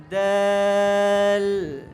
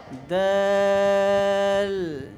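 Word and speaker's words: دال: মত দেখো দে দাল দাল দাল এটাও সহজ কিন্তু শুধু একটু পাতলা করে উচ্চারণ করতে হবে এরপর হরফটা দেখো দালের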